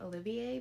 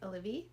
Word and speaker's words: Olivie: I read One for My Enemy by Olivia Blake, which I always want to pronounce her name, Olivier, but it's Olivia.